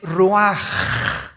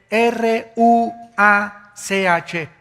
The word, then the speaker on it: ruach: Isaac Qué cosa el ruaj que se escribe r u a c h ruach en el hebreo y se pronuncia igual ruaj Aquí vemos que al